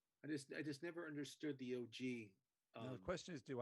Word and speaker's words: OG: How do you say his first name? OG? Just OG. It's not Og. No. I don't think it's Og or Og.